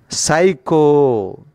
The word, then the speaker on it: psycho: And then we go to the in this session, second word, that means 20th word in this session, psycho. P-S-Y, P is a silent.